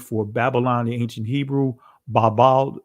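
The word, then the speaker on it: בבל: And when we go to the Hebrew word for Babylon in ancient Hebrew, Babel is the ancient pronunciation of it.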